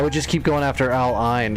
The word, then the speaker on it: Al Ain: Al Ain.